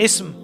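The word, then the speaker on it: اسم: इस्म, यहाँ पे अलिफ जो है ना वो साइलेंट हो गया, ये होता है इस्म।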